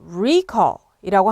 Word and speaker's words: recall: 자, 명사로 쓰일 때는요. 앞에 액센트에다 두고 recall이라고 합니다.